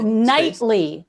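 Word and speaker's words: Knightly: that nightly whipple k-n-i-g-h-t-l oh nightly like a knight like a sir yes i'm i'm building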